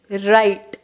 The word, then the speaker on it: wrote: First WRITE, ரைட்.